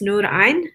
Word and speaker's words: Nurain: If you would like to say my name properly, it's Nurain. It is an Arabic pronunciation, and that is my active work to actually present myself the way that I do.